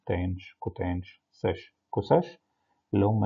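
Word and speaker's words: tanh: احنا هنا في مصر اتعلمناها الهايبربوليك ساين بننطقها شاين، والهايبربوليك كوساين بننطقها كوشاين، والهايبربوليك تان بننطقها تانش، فبننطق شاين كوشاين تانش، والتريجونومتريك بنقول ساين كوساين تان.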